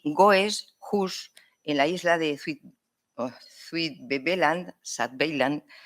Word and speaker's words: Goes: Middelburg, en la isla de Valcheren, como se pronuncia, y Goes, Hus, en la isla de Zuid-Beveland, permanecían bajo control español.